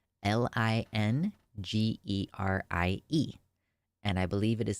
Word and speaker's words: lingerie: lingerie lingerie is spelled l i n g e r i e and I believe it is spelled lingerie it's spelled that way and it's pronounced that way because it's French I had a realization